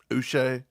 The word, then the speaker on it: Uche: Chris Russell says it's pronounced like Bobby Boucher without the bow. Uche. I don't care if it is Uche. I'm going to call him Uchi.